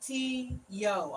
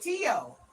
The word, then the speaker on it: Tio: Coma says my cat's name is Tio. Is Tio? So You say, yeah, okay. You say it like T-Yo. Okay, Tio.